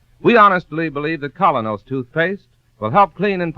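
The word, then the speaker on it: Kolynos: teeth isn't that correct we honestly believe that colonos toothpaste will help clean and polish teeth more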